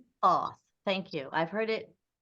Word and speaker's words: Thoth: appreciate no appreciate because th makes sense it actually would be more thought right thought being thought so beautiful beautiful all